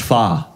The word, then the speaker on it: Pho: Pho. Of course, I was told that it's pronounced fa.